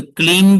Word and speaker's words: क्लीं: तो क्लीन भी बोलते हैं। कुछ लोग क्लींग भी बोलते हैं।